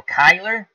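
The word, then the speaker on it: Cuyler: So, as I mispronounced that poor guy's name, as now Beatles saying Kai, like hi. So Kyler, Kiki, or Kyler, let me go back.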